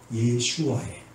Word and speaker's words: 예슈아: 그러면 헬라식 발음은 뭘까요? 예슈아예요.